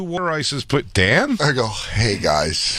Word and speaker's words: water ice: He goes, 2 water ices, Dan? I go, hey guys. Hey guys, it's pronounced water ice. It's water ice.